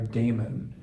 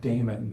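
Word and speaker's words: daimon: being in touch with our inner God our Damon d a i m o n that was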